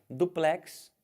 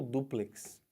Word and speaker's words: duplex: Aqui, ó, duplex ou duplex.